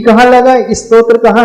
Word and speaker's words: स्तोत्र: क्या पढ़ रहे हैं स्त्रोत स्त्रोत भी नहीं है स त दिन त्र है आप बोल रहे है इसमें तो फिर त आ रहा है देखना हां स्तोत्र हां स्तोत्र उसमें एक लेटर और